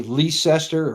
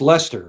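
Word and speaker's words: Leicester: And another town that you see it you want to say Leester or Lysester it's it's Lester right or Leester Lester well that's just well we also pronounce things completely differently too.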